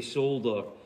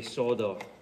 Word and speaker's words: solder: And in Britain, we say solder. And for some reason, they dropped the L and most Americans say solder.